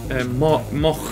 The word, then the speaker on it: Moog: How would you pronounce it, Simon? Moog or Moog? Moog.